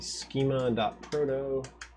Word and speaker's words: schema.proto: is going to be schema.proto which rhymes with Frodo and close that